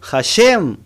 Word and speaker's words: Hashem: Y por otro lado vemos el otro nombre que se llama el Yud Hei Vav Hei, que se contrae o se pronuncia como Hashem.